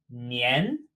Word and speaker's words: 年: But its pronunciation is 年, ni, en, like ni, and then end. 年.